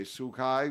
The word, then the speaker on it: Tzu Chi: I don't know um oh sukai sukai that's how you say it okay sukai was a uh is